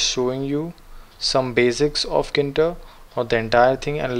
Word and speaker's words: Tkinter: it's all actually spelled Kinta because the T is silent import stops and you